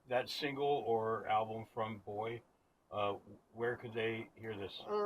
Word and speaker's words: BOI: And if people want to hear that single or album from Boy, where could they hear this?